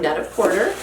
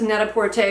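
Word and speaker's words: Net-a-Porter: Porter or net aorte I always thought it was net aorte which is supposed to rhyme with PR aorte but I feel like more people at least English speakers pronounce it Neta Porter so whatever you prefer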